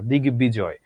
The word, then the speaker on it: দিগ্বিজয়: দিগ্বিজয় মানে দিগ্বিজয় বা দিগ্গিদিক এমন না, দিগ্বিজয়, দিগ্বিদিক, ঋগ্বেদ, এইরকম।